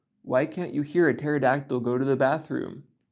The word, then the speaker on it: pterodactyl: And the chicken and the pterodactyl are third cousins 4 times removed, or something like that. While we're here, why can't you hear a pterodactyl go to the bathroom? Because the P is silent.